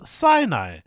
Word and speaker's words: Sinai: Even look at how it's spelled though. It doesn't say cyanide. It says cyanide. Cyanide. Cedars Sinai.